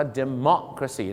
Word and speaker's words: democracy: ใช่ นะ ครับ ประชาธิปไตย ต้อง ออก เสียง ว่า เมซี นั่น เอง ครับ เมาะ ฮะ เหมือน ป่า ละเมาะ อะไร เงี้ย นะ ฮะ democracy